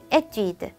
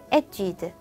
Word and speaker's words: étude: 정확한 발음은요. 에뛰드. 에뛰드, 에뛰드.